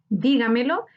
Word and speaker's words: Dígamelo: Dígamelo es una palabra sobreesdrújula. Su sílaba tónica está en di, anterior a la antepenúltima sílaba. Se tilda porque todas las sobreesdrújulas se tildan.